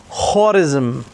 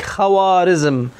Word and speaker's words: خوارزم: باتجاه الواو، يعني مثلا هناك مدينة خورزم هكذا ينطقونها، فهم يكتبونها حتى تنتبه إلى أن هذه الواو للتفخيم يكتبونها لك خوارزم، فهي لا تنطق كذلك لأنه خورزم هكذا، فهم يميلون باتجاه الواو.